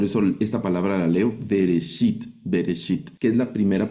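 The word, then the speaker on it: בראשית: Por eso esta palabra la leo vereshit.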